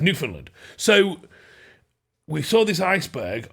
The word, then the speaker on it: Newfoundland: But that's just how you pronounce Newfoundland. Yeah. It's Newfoundland.